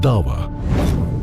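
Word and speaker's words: da'wa: Dawa is the way it's pronounced.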